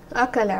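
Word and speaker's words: أكل: Akala, right? And here is my Hamzatul Qat'a. So I will pronounce this Hamza. This Hamza here is pronounced. So this is an example of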